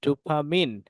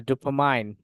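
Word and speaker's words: dopamine: music ট্রিগারস production of ডুপামিন বা ডুপামাইন এটা exact উচ্চারণ আমার মাথায় আসতেছে না আমি জানিনা এটা থাকুক ডুপামাইন ধরে নিন উচ্চারণ এটাকে ডোপামিন বলে ডোপামিন ওকে ঠিক আছে তাহলে এটা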